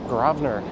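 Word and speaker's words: Grosvenor: die on that Hill it is pronounced grovner that's an opp car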